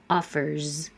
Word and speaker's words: offers: Is voiced. Leave your voice on, and you have a Z. Offers.